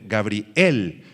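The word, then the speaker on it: גבריאל: Subrayen la palabra hebrea para Gabriel, se escribe exactamente igual que en español, pero con acento en la E. Gabriel es en hebreo, Gabriel, que significa guerrero de Dios u hombre de Dios.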